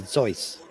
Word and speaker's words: Seuss: actually i read somewhere that suits it's not how not even how you say his last name but i don't remember it if you're actually pronouncing it the way it should be pronounced it's german it would be zoice and that might be